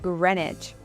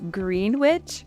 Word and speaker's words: Greenwich: So we decided to head east to a part of London called Greenwich. Now I know it looks like you would say Greenwich, but we quickly found